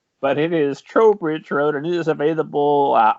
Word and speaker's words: Trowbridge Road: road which we were just discussing i've been mispronouncing as trout bridge road but it is tro bridge road and it is available uh october 6th right